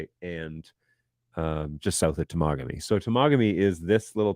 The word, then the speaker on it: Temagami: of the Temagami knife, you will find the people who are the Americans who don't know how to say the name. Okay, so there you go. Fun fact. Don't screw it up. So Temagami is up here, and